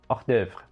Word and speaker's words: hors d'oeuvre: If you are French, you probably have a better idea of how it's said. Hors d'oeuvre.